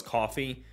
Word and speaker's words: Coffey: some words together there coffee is spelled a little different than what we know it as however this bottle is